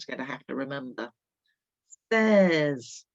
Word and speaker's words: seize: Seize is another slightly tricky one. Six for 6, seize for 16.